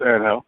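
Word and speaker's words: Ángel: Yeah, you say it the Spanish way, it's Angel, so you're good.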